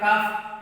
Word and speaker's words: calf: जैसे कि CALF काफ, यहाँ पे एल साइलेंट रहता है तो क्यों रहता है ये अपन साउंड में पढ़ेंगे।